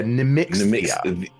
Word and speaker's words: Nemixia: Yeah, Nemixia. Hang on, let me write that Here, down. I'm going to give you the phonetic pronunciation. Nemixia, like, I'll put Nami X Thea.